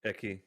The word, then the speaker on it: Ecce: pronounce it? Eki, yeah.